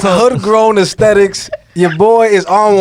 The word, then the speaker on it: Hoodgrown: of Homegrown Aesthetics. No, you said it wrong. What did I say? You said homegrown. Oh, wait, what is it? Hoodgrown.